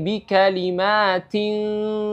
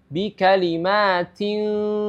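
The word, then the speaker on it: بِكَلِمَاتٍ: makhraj huruf Fa itu jadi Bim bikalim ya bukan bikalima Fa bikalima Fa Ya tapi bikalim diperhatikan dan gunah ya panjang gunah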